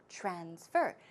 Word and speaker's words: transfer: this case same thing when this word is used as a verb the stress goes right there on the second syllable it's not transfer its transfer verb transfer it means to send